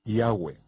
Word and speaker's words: Yahweh: ni siquiera lo sabían yo pronuncio su nombre yahwe yo dijo que había cuatro vocales sobre la mitra del sumo sacerdote yot he va he que son pronunciadas como vocales en un solo respiro yahwe fluido yahwe en